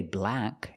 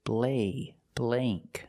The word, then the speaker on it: blank: And this word blank, we don't say blank. It's blank. Use the long a sound.